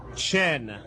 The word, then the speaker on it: Chien: Chin. Chien. The doctor. What is it? Chen.